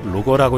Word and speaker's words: LOGIR: 비궁은 영문으로 LOGIR 로거라고 읽는데 말 그대로 저가형 유도로켓이라 할 수 있겠습니다.